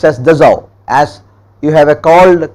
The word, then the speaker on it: Dassault: this is princeton written as the salt but pronounced as dissolved as you have a cold car called renault it is written as renault but its princess renault similarly it is dissolved aviation is the manufacturer of the state-of-the-art rafale